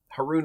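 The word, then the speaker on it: Haroon: you remember my name Haron rhymes with baboon and people always pronounce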